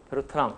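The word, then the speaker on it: Bertrand: 그래서 더 100년 전까지 올라가면은 쿠로노, 베르타 이분들은 이제 다 프랑스 사람들이죠. 그래서 발음을 제가 뒤에 자음을 안 해요. 쿠로노, 그다음에 베르트랑.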